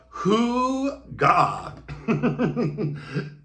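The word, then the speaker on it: hygge: Now, I have actually burned this candle before I started doing this channel, but this candle is called, how do you pronounce it? It's Hoo-Ga.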